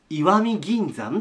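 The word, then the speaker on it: 石見銀山: なんですけど漢字は読み方いいわです石見銀山と言います以下の場所から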